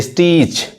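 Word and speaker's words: stitch: तरह देखिए स्नैच छीनना तो देखिए टी यहां प साइलेंट कैसे होता है तो जब भी टी सीच एक साथ आए तो तो टी साइलेंट होता है आइए और भी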